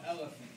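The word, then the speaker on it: LFANT: The name of the label is called Elephant. L-F-A-N-T. The L-F stands for Linda Faith, my mother. God bless her soul. But also got kind of the name LF, like actually pronouncing the L and F, A-N-T, based off my favorite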